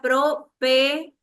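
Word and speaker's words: προφητεία: La palabra griega profeteia se pronuncia propeteia.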